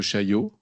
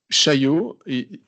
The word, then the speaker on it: Chaillot: Come back to the Déclaration de Chaillot afterwards, but I just want you to... Chaillot, it might seem very uneasy to pronounce, but you can try Chai and then O, okay?